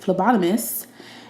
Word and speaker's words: phlebotomist: a job as a phlebotomist at, I could say that word. She practiced. At the Milwaukee Blood and Plasma Center. Don't see phlebotomist. I'm sorry, Nia. Love you. No PH is pronounced F.